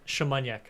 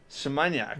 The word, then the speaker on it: Szymaniak: It's Szymaniak, isn't it? Szymaniak. Szymaniak. Yeah. Whoa. Yeah. There you go. Polish.